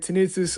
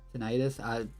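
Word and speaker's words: tinnitus: pain, muffled sound, and tenitus under 15 minutes. That's how you say that, right? Tenitus or or how do you say that? Tenitis. Tenitis. Okay, that makes more sense.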